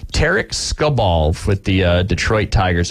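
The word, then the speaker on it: Tarik: Tarek Skubal with the Detroit Tigers, if I pronounced his name correctly. It's Tariq Skubal.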